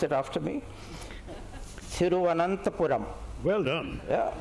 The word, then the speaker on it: Thiruvananthapuram: And I want you to hear this and try and pronounce it after me. Thiruvananthapuram.